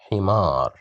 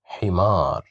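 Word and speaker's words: حمار: Here we have kasra, he, himar, himar, himar, which means a donkey.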